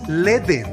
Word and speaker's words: Ledn: Ledn, cripto con Es Ledn. Ledn. Ledn, es Ledn, James.